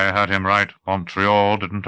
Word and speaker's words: Montreal: "So it has two pronunciations, totally different with respect to all three vowels. The O is short to English-speaking Canadians, long to French-speaking Canadians. The E is a long E to the English, a long A to the French.